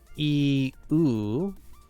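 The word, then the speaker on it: 言う: Technically, it's like iu, you, but they get blended together, so it does sound like the letter U.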